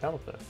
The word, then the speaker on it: Pelipper: Not Pelipper, because that's actually how you say it.